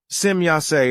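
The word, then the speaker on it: Semjase: But if the E at the end of the name is pronounced as I, as it, for example, done in the English language, then this results in a very evil unvalue.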